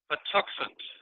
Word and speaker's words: Patuxent: So Rabia and Fred, I just had Rabia slide up, but Fred Tuckman, and Fred, will you please pronounce the name of the river for us? It's Patuxent.